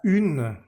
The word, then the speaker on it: une: Resulta que esta palabra la vamos a separar como une. Tiene digamos que dos sílabas. Une se puede separar. Y al separarla, la U queda en un lado y la N queda en otro lado. Entonces se rompe esa vocal nasal. Ya no podemos decir como an o sino que queda U por un lado y ne por el otro.